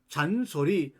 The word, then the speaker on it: 요한: 요한입니다 영어로 말하면 존입니다 존 그래서 영국에 가면이 요한 성을 존이라고 발음합니다 존 존 그런데이 존이 미국으로 건너가면 미국식 발음으로 밖서 잔이라고 바람합니다 이제부터 여러분 소리내 보세요